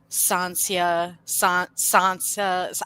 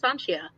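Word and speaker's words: Sancia: Well, I said Sansia until they pronounced, said this. No, it's Sanchia, or like how they, they Sanchia was how he like.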